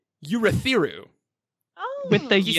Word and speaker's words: Urithiru: Urithiru, yes.